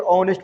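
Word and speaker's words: honest: लेते हैं हम लोग, लेकिन हॉनेस्ट पढ़ते नहीं है, इसको क्या पढ़ते हैं? ऑनेस्ट पढ़ते हैं।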